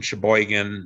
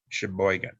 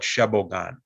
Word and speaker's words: Sheboygan: to go to sheboygan he didn't know how to pronounce sheboygan it was um because he didn't speak english very well he called it shabo gone and i still remember